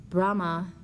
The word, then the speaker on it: Brahma: of that name and if you think of the Sanskrit not having A's pronounced you would pronounce it brah Saras vakti the consort